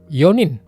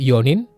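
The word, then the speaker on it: 四人: Di sini teman-teman harus hati-hati dengan cara baca Yong dan yo. Harus bisa bedain ya, kapan dibaca yong, kapan dibaca yo. Jangan sampai campur atau tertukar. Kalau empat orang itu ionin, 4 tahun ionen.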